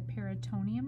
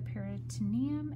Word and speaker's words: peritoneum: So I still see a film there, and I'm trying not to cut it, so you can see the peritoneum or the peritoneum, which is a film that actually separates the skin from the abdominal cavity.